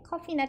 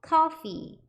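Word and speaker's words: coffee: 오늘은 저희 카페에 대해서 배우는 거니까 이렇게 커피나 티 좋아하는 거 한잔 준비하고 오셔서 같이 공부해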